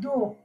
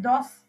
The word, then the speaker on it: dos: And then you have do, do, do is back. Do. No, you are not pronouncing S there also. You are not pronouncing it as dos. It's do.